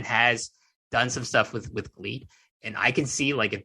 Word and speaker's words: GLEAT: But listen, they're gonna spell it with an L.